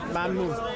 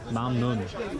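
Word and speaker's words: ممنون: Mamnoon. Mamu. Mamnoon. Mamnoon. Mamnun.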